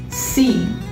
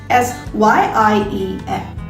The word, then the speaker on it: Syiem: It's pronounced as seam. Like, think of the word seamless. Seam, that's it. In that word, it is S-E-A-M. Over here, it is S-Y-I-E-M. Seam. Some people also have a tendency to pronounce this as Syiem, which probably is fine if you're already familiar with the word seam, if you know that this word exists.